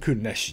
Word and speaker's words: Kunesh: And Kunesh, yes, that's how you pronounce it.